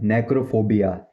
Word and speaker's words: necrophobia: इसको बोलते हैं प्रोफेशनल इंग्लिश में बोलते हैं नेक्रोफोबिया। नेक्रोफोबिया, नेक्रोफोबिया, नेक्रोफोबिया, नेक्रोफोबिया, नेक्रोफोबिया, नेक्रोफोबिया, नेक्रोफोबिया, नेक्रोफोबिया, नेक्रोफोबिया। नेक्रो spelling है इसकी NECROPHOBIA।